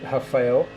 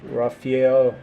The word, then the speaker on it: Rafael: Uh well, Portuguese say Rafael, but people would say everything Raphael, mostly Raphael, but uh this dude is actually Oh, there he is.